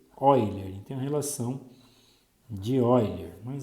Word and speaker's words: Euler: Se escreve Euler, mas a gente lê Euler.